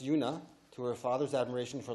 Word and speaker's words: Una: in Alexandria Dakota territory she attributed her name pronounced Yuna to her father's admiration